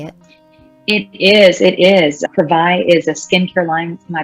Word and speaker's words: Privai: way to say it it is it is pravai is a skincare line my business partner and